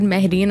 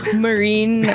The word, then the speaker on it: Mahreen: First of all, I don't think he will pronounce it Mahreen. I think he'll be like Marine, like freaking whitewashed.